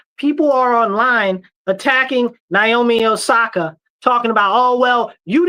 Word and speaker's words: Osaka: Naomi Amasaki. the tennis player. Yeah, she was just at the uh what is it? Omasaki. I think it's I I don't want to say the lady's name wrong. Osaka.